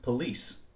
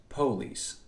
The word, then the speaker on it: police: In what is loosely called American English, this word would be pronounced police, whereas in African American Vernacular English, or AAVE, it might be more commonly pronounced police.